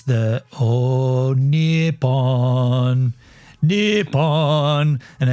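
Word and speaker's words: ニッポン: It's the "Oh Nippon, Nippon," and it's I ChatGPT'd it because I was like, what are the Japanese people singing at the World Cup? And it's it's "Oh Nippon," which is the original name for Japan, or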